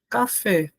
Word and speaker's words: café: Por exemplo, a palavrinha café. Café. E aí, professor, qual é a sílaba tônica de café? Café, ó, é essa daqui, professor. Também é a última.